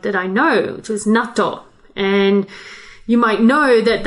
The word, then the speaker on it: natto: natto we're talking about natto which is nato in japanese oh the difference in pronunciation i could hardly even tell nato versus natto one has a double d so you were saying